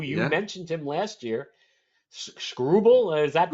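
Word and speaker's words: Skubal: Led by their uh their left-handed pitching uh who you mentioned him last year, Scrubble. Is that how you pronounce his man's name? Scooble. Really? That's how you pronounce it? Scooble.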